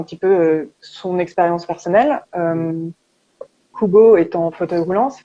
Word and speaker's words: Kubo: Kubo, même si ça s'écrit avec un K-U-B-O, en fait, un seau ou un carré, ça se dit Kubo en espagnol.